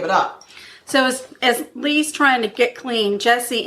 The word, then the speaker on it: Lea: a drug addict and Leah not Leah sorry I'm sorry I'm sorry her name is Lee it's spelled l e a but pronounced Lee okay okay so Lee